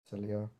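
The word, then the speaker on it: Sileo: Is how do you say Cilia? Is that the right pronunciation? Cilia.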